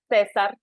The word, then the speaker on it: Cesar: His name is Cesar. He's from Caesar, like the Caesar salad, Cesars, and all kind of like pronunciation.